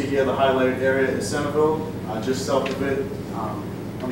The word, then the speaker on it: Centralville: And so the neighborhood I'm studying, it's spelled Centralville, it's pronounced Centerville, I don't know why.